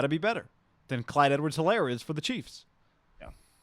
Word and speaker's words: Edwards-Helaire: Something Solaire, the little running back. Clyde Edwards-Helaire.